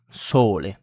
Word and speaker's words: sole: So example of the pronunciation of the vowel O in Italian is sole. So sole sole as in more in English. More so more sole.